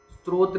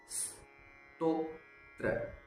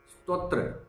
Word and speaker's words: स्तोत्र: स्त्रोत नहीं होता है, स्तोत्र नहीं होता है, स्तोत्र स्तोत्र इस प्रकार से इसको बोला जाता है।